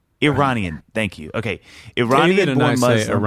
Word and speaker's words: Iranian: I say Iranian. Iranian. Thank you. Okay. Iranian David and born I Muslim.